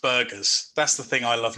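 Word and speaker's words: Birgus: This is potentially my favourite crustacean of all, the coconut crab, or Burgess latro. Actually, I always say Burgess latro to make it sound fancier, but it's pronounced burgers.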